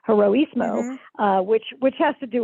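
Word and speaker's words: Heroísmo: given the name uh hiroshimo or hirosimo again not pronouncing it correctly heroismo which which has to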